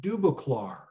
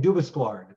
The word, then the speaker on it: Dubosclard: subject of Paul dubac and it's been it's pronounced dubac um even though it looks different I've been